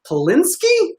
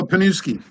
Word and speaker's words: Panuski: We got Polinsky. Am I saying it right? No, Panuski. Oh, come on. Panuski. There's no L in there.